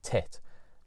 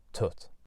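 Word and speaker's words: Тут: At Vidbeer, she entered her song Tut, which, written down in English, looks like it should be pronounced tit, but according to the commentator, it definitely was Tut.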